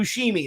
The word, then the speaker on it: Buscemi: Buscemi. That's it. No. Bushimi. Bruschetta. Machete. Garbanzo bread. Garbanzo. Parmigiano. Parmesan. Oregano. Rosemary. Gabagool. Gabba Gabba. Give me the gabagool. Steve Yes. Buscemi.